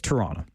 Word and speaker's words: Toronto: I like to call it Toronto, but we know when you're not from here, when you are very emphatic about the T's. Toronto, right? It's Toronto.